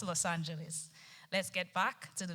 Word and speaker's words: Los Angeles: as Los analis however in American English it is pronounced as Los Angeles let's get back to